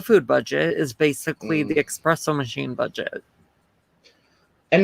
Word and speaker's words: espresso: budget is basically the espresso machine budget and now you're saying it wrong and now i'm annoyed espresso i don't drink coffee